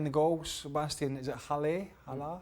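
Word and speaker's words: Haller: Sebastian, is it Halle? Allaire. Halle, how do you pronounce it?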